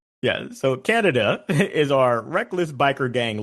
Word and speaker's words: Kaneda: How would you pronounce the name of our major character, protagonist? You pronounce it Kaneda. Yeah, so Kaneda is our reckless biker gang leader.